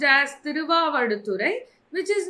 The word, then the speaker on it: Thiruvavaduturai: It is pronounced as Thiruvavaduturai, which is not very important for exam.